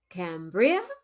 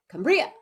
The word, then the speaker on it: Cambria: well some people say cambria some people say cambria i say cambria so there's a little